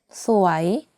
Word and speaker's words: สวย: However, the tone is very important because if the tone is off, it means different thing. สวย is beautiful or pretty. สวย means unfortunate. So be careful of the tonation that you use.